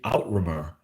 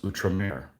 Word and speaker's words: outremer: together, I'm like, oh, that's how you say outrimer. The whole time, in my head, when I've read, things about um, the Levant, in a book, that's how it's spelled, outrimer. And I'm like, oh, that's outre-mer.